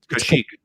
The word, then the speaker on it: Kashyyyk: Kashyyyk.